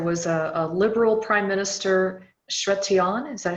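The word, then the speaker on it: Chrétien: I noticed there was a liberal Prime Minister, Chretien, is that how you say it? Chretien, Jean Chretien.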